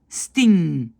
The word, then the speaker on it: sting: Et le NG, c'est bang, jongen, sting. Moi, qu'est-ce que j'entends? Parfois un G à la fin. J'entends bang, sting. C'est pas sting, sting. C'est juste un son.